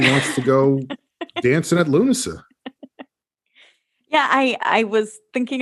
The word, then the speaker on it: Lughnasa: until you said it i always thought it was look a han saw maybe it is i don't think so i think it's lunaset